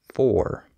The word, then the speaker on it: for: a stress timed language when a syllable is not stressed it can often become reduced so for example the word f